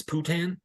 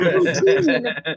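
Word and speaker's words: poitín: dude, Yeah, we did bring it all back because didn't I pronounce that crazy Irish booze, Putin? Thank you. Not poutine. You thought it was Poutine.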